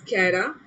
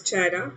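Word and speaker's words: Chara: Some of them pronounce it एज कैरा, some of them से एज चारा.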